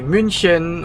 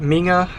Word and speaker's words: München: In Germany, we would say München or the Bavarian would probably say, I think I'll butcher it, Minga.